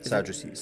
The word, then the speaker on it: Sadducees: Sadducees.